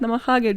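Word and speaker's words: なまはげ: And the teachers would be like encouraging them, like, oh my god, this is great, Namahage, yes. No bitch, pronounce it how it's read, Namahage, Japanese people know how to do it.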